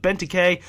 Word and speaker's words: Benteke: I mean, this week's Team of the Week was pretty good with Benteke. That's how you guys told me how to pronounce it.